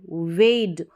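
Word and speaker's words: weighed: कैसा था धोखेबाज एंड वेड वे वे की यहां पर जीएच साइलेंट है वे की ये सेकंड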